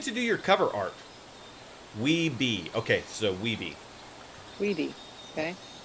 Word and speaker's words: Wiebe: Daniel, I'm going to say, I'm going to pronounce this wrong. Is it Wiebe? W-I-E-B-E? Who'd you get to do your cover art? Weeby.